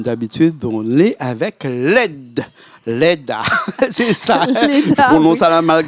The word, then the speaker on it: Leda: Leda, c'est ça. Leda, je prononce à la malgache, je prononce pas le A à la fin. Non, on ne prononce pas le A, oui, ça fait LED.